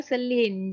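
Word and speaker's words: Shilin: Bacanya Selin.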